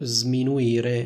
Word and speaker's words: sminuire: I risultati degli altri come vedete Io dico sminuire non dico sminuire Cosa vuol dire sminuire